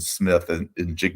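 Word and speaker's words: Smith-Njigba: So they're, the receiver, Jackson Smith and Jigba, that's how you say his name, who hasn't played much this year, right?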